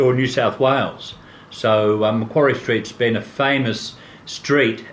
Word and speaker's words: Macquarie: Macquarie. Macquarie. Yeah. What is Macquarie? Well, Macquarie was a governor of Australia, the first governor of Australia, here, or New South Wales. So Macquarie Street's been a famous street, and it's considered